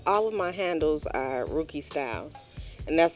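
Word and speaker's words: Rukey Styles: Well, all of my handles are Rookie Styles, and that's spelled RUKEYSTYLES.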